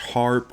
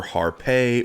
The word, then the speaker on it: Harpe: to talk about pronunciation it may have been pronounced harp or harpay or arp but i'm saying heart also we know some